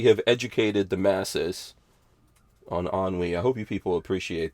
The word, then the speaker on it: ennui: So now we have educated the masses on ennui. I hope you people appreciate that. 42 all I chill want to put know you have to pronounce it AN-WE. Ennui.